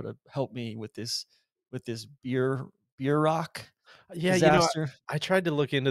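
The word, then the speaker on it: bierock: after the Nebraska trip, and it's the I guess these things are more like a beer rock. As Ben said, they pronounce it in Wichita Burrock more, Mhm.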